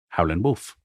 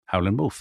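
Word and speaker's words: Howlin' Wolf: Howland Wolf. Howland. Howland Wolf. That's his name. That's an important part of the story, isn't it? You drop the G if you're a blues player.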